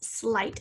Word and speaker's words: slight: this word is going to rhyme with night and fright and sight so the word is slight i hear that blend sl consonant blend igh for the long i sound ending in the t the t sound uh